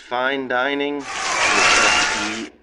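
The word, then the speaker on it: Fein Dining: I believe it's pronounced Fine Dining, F-E-I-N Dining.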